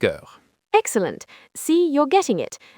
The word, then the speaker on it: heures: Il est 3 heures. Parfait. And it is 5 o'clock? Il est 5 heures. Excellent. See, you're getting it. The S at the end of heures is silent, but it's important for writing.